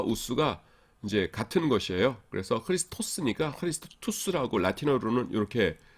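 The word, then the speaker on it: Χριστός: 오스로 끝나면 보통 이제 이거는 헬라어고요. 라틴어에서는 끝에가 우스로 끝나요.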